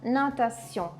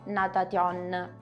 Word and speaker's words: natation: scritta in questa maniera non la pronuncerò NAT assolutamente no terrò conto della pronuncia della t che precede io quindi quella parte lì la leggerò si SIO e poi la parte nasale quindi l'incontro di O + N dovrò pronunciarla nasalizzando la N cosa significa facendo passare